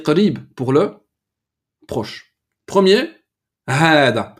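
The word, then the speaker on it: هذا: Attention que hada, les frères, ici, ils ne le disent pas, mais hada, on le prononce avec une prolongation. Hada. J'ai un peu exagéré, mais comme ça, vous la voyez. Après le ha. On ne dit pas hada. Hada.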